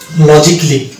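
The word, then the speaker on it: logically: Silent পাবো এবং এগুলোকে আমরা এ সাইলেন্ট ধরে উচ্চারণ করতে হবে। যেমন এটা হচ্ছে মিউজিকলি, লজিকলি, ফিজিক্যালি, অটোমেটিকলি, সার্জিক্যালি, বেসিকলি, রোমান্টিক্যালি, ক্রিটিক্যালি, নট ক্রিটিক্যালি, ক্রিটিক্যালি।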